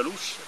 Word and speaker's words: Lus: Mettere insieme le spiegazioni di Ermana Montanari in tema di lingua aspra romagnola, in tema di luce che si scrive e pronuncia Lus, e anche intercettare un modo, forse l'unico, per accostarsi a un concerto spettacolo che si intitola appunto Lus.